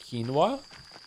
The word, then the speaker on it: quinoa: It's pronounced quinoa. Quinoa. It is quinoa. Okay. I have heard someone pronounce a quinoa. Who the did I hear pronouncing quinoa? Some food tuber. Maybe that was a bit. Where is the w coming from?